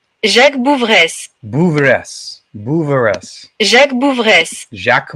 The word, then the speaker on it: Jacques Bouveresse: It is pronounced Jacques Bouveresse.